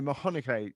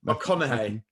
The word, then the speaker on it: McConaughey: You know, Mcconaughey, I can't pronounce his name properly. Someone say it for me, please. McConaughey.